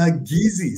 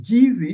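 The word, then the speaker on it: Kissi: the golas and the geezy spell k-i-s-s-i but pronounced geezy sounds a lot like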